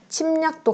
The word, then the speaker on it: 침략: 침략도 같이 볼게요. 침략도 마찬가지죠. 받침, 미음 뒤에 오는 리을이 니은으로 바뀐다. 침략. 침략.